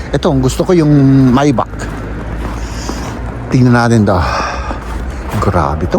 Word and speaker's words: Maybach: Ito ang gusto ko yung Maybach tingnan natin to. Grabe to. Maybach m ang Hindi ko alam kung anong pronunciation nito sa English pero sa German maybach.